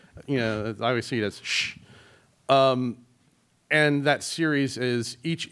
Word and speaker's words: kuš: It's like it's the letter S and exclamation mark, but it's obviously it is shh.